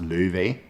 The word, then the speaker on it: Laufey: in the Old Norse, the name will be pronounced Løve.